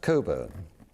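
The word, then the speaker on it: Cockburn: And it is indeed pronounced Coburn.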